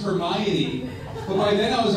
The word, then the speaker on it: Hermione: could never pronounce yeah it wasn't until the movie came out and i realized it was pronounced hermione but by then i